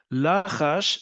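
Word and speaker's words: לחש: Lachash means he whispered. Okay, lilchosh is to whisper. Ulachash, We know we pronounce it lachash because it's in binyan pa'al.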